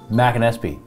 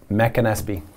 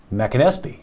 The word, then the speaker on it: McAnespy: McAnespy.